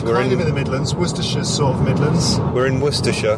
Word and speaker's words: Worcestershire: er Shi ar e and it's pronounced not or sesterce a Shia but pronounce Worcestershire Worcestershire and the capital the main city in